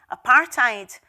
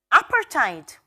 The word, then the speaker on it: apartheid: and white anti-apartheid banners, which some pronounced apartheid and others pronounced apartheid.